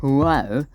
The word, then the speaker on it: Huayra: If you have a look at this, I believe it's a Pagani Huayra, or Huayra, if you want to pronounce it like someone who isn't Jeremy Clarkson.